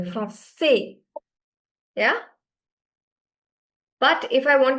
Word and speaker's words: Français: We are not pronouncing the I. Are we? Are we giving enough emphasis to I as much we're giving to A? No, right? No. We're giving more emphasis to A over here.